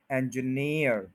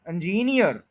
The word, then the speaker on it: engineer: engineer, engineer, engineer। हम क्या कह देते हैं? इंजीनियर, इंजीनियर, ये गलत है।